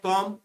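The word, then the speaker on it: comb: Third है कॉम, कॉम में B silent रहता है।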